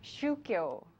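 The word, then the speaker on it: 宗教: shukyo, the same Chinese characters used for 종교 in Korean is pronounced as shukyo in Japan.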